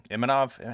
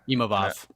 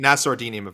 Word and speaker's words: Imavov: Imanov. How do you say his name? Yeah. Imavov. Nassourdine Imavov. Nassourdine.